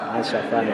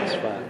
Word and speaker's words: Asfan: Karena nggak ada itunya bang, nggak ada jabar-jabarnya, jadi saya bacanya asafan, asfan.